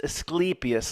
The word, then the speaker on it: Asclepius: It's Asclepius, like you say, sleepy, Asclepius.